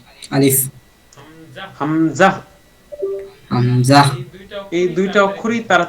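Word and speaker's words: همزة: আরেক হচ্ছে হামজা সময় বলি সময় আলিফ আলিফ হামজা হামজাহ হামজাহ এই দুইটা এই দুইটা অক্ষরই তাড়াতাড়ি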